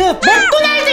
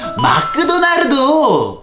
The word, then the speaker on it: 맥도날드: 선생님 그 한국어 발음이 조금 이상한 것 같아요. 그래? 그 내가 어떤 발음이 이상한데? 그 아까 전에도 음악을 음악그라고 하고 칭찬을 칭그찬이라고 하셨잖아요. 그게 뭐가 이상하지? 음악그, 칭그찬 맞지 않아? 네, 맞지 않아요. 특히 조금 전에 마크도 나르도가 제일 이상했어요. 그럼 뭐라고 발음해야 되는데? 그냥 맥도날드 이렇게요.